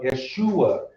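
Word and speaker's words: ישוע: like it yes, or Yeshua. Notice now you did not hear any e's, you did not hear any u's.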